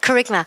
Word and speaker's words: kerygma: Am I pronouncing that? You are, yeah, right? kerygma.